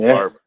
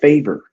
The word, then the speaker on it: Favre: Since Brett Farber the game, they've just play after explosive play. Now, now Josh, you said it wrong. It's Brett Favor.